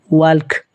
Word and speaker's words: walk: In the word, L is not pronounced.